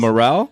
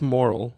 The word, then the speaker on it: morel: I thought it was moral, like Okay. just moral, like the moral of the story.